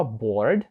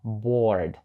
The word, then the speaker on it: board: означати багато речей по-перше його вимова Board звучить як довга літера о bor там ніби немає літери Ей але вона подовжує звук о і виходить boр і по-друге слово boр